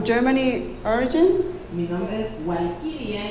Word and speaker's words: Walkiria: Mi nombre es Walkiria y en alemán se pronuncia Valkyria.